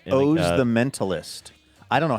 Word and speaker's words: Oz: Just like OZ, Oz, but it looks like Oz. Oz Perlman is his name. It's pronounced Oz, but okay.